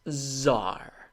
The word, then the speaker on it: TZAAR: of History number six Czar the t is silent I prefer this to